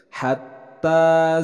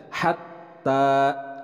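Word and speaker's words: حتى: Hatta zurtumul maqabir. Hatta, untuk pelafalan ha itu harus jelas, jangan sampai tertukar dengan huruf ha. Di sini adalah huruf ha, jadi dibacanya hatta, hatta, bukan hatta.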